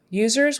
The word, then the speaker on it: users: let's see user user users with a z not an S I remember z's are